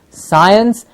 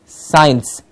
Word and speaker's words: science: should hopefully by now be pronouncing the word s c i NC e as science and not science yes I am very